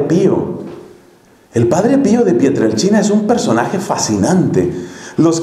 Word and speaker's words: Pietrelcina: del Padre Pío de pietr El China eso se escribe pietrelcina con c si no conoces la historia del Padre Pío de pietrelcina se escribe y se pronuncia pietr el China si no conoces esa